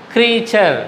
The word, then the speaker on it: creature: But you see the pronunciation there, creature. How is it pronounced? The T is pronounced not as T here. The T is pronounced as cha.